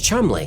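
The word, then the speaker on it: Cholmondeley: One of the British intelligence officers working on crafting this deception was Charles Chumley.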